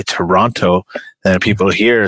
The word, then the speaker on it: Toronto: Anyway, Sang is telling you that the second T in Toronto is silent. Please correct or leave the city.